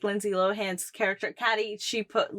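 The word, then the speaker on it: Cady: She kept repeating to everybody who kept mispronouncing her name. It's actually Katie.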